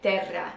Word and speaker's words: Terra: people mispronounce it and you are supposed to say it like it is like terra you know and that's